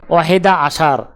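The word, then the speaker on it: أحد عشر: আরবি ক্রমিক সংখ্যা 11 দেখতে এরকম, উচ্চারণ হবে ওয়াহেদা আশার।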